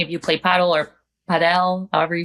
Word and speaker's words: padel: We went to go play paddle. If any of you play paddle or padel, however you say this word, that sport, I love it. Is that how they pronounce it?